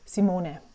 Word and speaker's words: Simone: My name is actually pronounced in German. The way that everyone would pronounce it is Simone. It's a short sound at the end. However, and a long O, Simone.